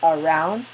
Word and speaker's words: around: So for example, around is stressed on the second syllable, so there is an accent over the second one to indicate that's the one that is longer, clearer, higher than the other syllables. It's a stressed syllable.